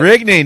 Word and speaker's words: Rigney: Is that the right pronunciation, or is it Rigney? No, it's Rigney. You got it. Rigney, nailed it, baby.